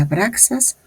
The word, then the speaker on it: Abraxas: Se pronuncia abraxas, lo cual es igual a 1 más 2 más 100 más 1 más 60 más 1 más 200.